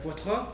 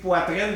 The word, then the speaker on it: Poitra: Bonjour monsieur Poitra lui-même. Merci de bien le prononcer. Les gens disent poitrine des fois c'est calme.